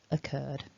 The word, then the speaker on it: occurred: should be longer but those double c double r combinations do not double up in terms of sound occurred so if you haven't